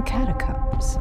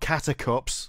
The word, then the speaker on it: catacombs: I have seen the catacombs. You mean catacombs, not catacups. Catacombs. They're not catacups. Catacombs. Catacombs. You know combs? I may not use one, but I know how to pronounce it.